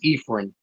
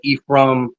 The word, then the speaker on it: Efren: So the way I like my name pronounced is Efren. Perfect. So people do call me different ways, right? Efren, Ephraim, different ways, but I'm okay with people calling me.